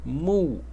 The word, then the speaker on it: 木: And the bottom element is pronounced mu.